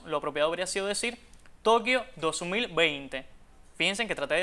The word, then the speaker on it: Tokio: También impropiamente algunas personas decían Tokio cuando esa palabra no iba tilten la I. Aunque en el pasado se usó esta pronunciación, la extendida en la actualidad es Tokio y por tanto es la forma aconsejable.